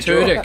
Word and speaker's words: Tudyk: Tudyk, Simon Tudyk, Alan Tudyk, Alan Tudyk. That is correct. You are the winners. Yes. Good Yes. It's stuff. not pronounced Turdick.